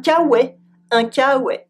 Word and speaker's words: K-Way: And it's pronounced with a French accent un kawe.